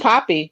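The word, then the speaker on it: Papi: Ain't it pronounced Peppy? Pep. P-A-P-I? It should be Poppy. Oh, Poppy Peppy. is Yeah, because he's P-A-P-I.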